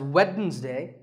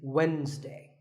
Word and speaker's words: Wednesday: the week it's Wednesday the D is silent sometimes it's pronounced as Wednesday but the proper way to say it is Wednesday what about this word